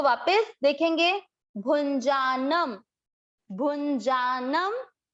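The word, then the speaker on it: भुञ्जानम्: ध्यान देने की बात कि भू पे जो है इसका उच्चारण होगा न, नाक से न, और जो न के ऊपर बिंदी है वो होगा म। क्यों, क्योंकि ये पूरा शब्द होने के बाद बिंदी है, इसको अनुस्वार का उच्चारण होगा आधा म, और ये होगा न।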